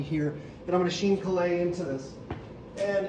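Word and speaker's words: chine collé: this little photocopy here that i'm going to sheen kalei into this and it's helpful to get a little cardboard chip we have these little mat board chips and this is our nori paste sheen kalei is a vocab word sheen is c-h-i-n-e coli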